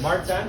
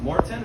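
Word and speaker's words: Maurten: tell us we have many sites we have Martin which is actually pronounced Morton which is my favorite this Y is my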